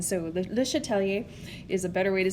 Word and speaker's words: Le Chatelier: by calling it the chateleers principle so um was not a very french accent that that i was taught in so the le chatelier is a better way